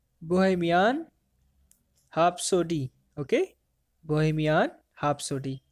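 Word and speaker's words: Bohemian Rhapsody: बोहेमियन हैप्सोडी, आर is silent here, okay?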